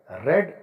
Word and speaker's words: read: मैंने यह किताब पढ़ी है, I have रेड this book. जब हम बीती बात करेंगे कोई तो हम इसको बोलेंगे रेड, स्पेलिंग वही है, READ।